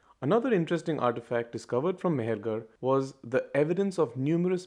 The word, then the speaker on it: Mehrgarh: Mehrgarh. Well, not quite, my digital friend. It's actually pronounced Mehrgarh.